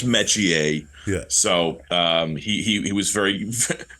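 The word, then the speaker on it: Metchie: Your name is Royce Metier.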